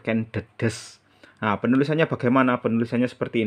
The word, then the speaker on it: Ken Dedes: Jadi menggunakan huruf da dan E-nya pepet. Jadi bacanya Ken Dedes bukan Ken Dedes ya. Selama ini kaprah banyak yang keliru mengucap Ken Dedes, padahal yang benar Ken Dedes.